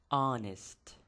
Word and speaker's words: honest: اچ تلفظ کوي خو په اصل کې دلته اچ موږ بلاست کوو دا به موږ سایلنټ کوو وبې غورځوو د او نه به شروع کوو honest honest رښتینی ایماندار یو